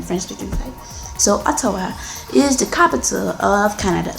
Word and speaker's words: Ottawa: So Ottawa is how a Yoruba person would say it, but I think the correct pronunciation is Ottawa.